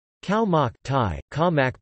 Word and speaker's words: Khao mak: Khao mak, Thai, ka mak pronounced k-a-m-a grave k, also known as Thai fermented